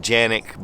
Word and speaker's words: Canik: And yes, in Turkey it's pronounced Canik, but we're not in Turkey. Just like we don't pronounce Turkey, Turkey. Now, Century Arms imports the Canik pistols into the U.S.